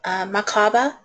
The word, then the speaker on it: Merkaba: The Merkaba, knowledge activation, or some people pronounce it the Makaba, knowledge activation.